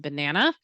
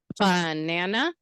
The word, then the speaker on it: banana: So we clapped 3 times before to say that's how many syllables in banana. So stress of banana, is it banana? No. Okay. Banana. Banana. Yeah, the stress is in the middle syllable.